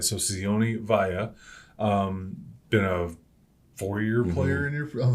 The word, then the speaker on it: Vea: Okay, we've said Sione Vea, and he's answered to it and all that, but he says it. Via. Okay, Via.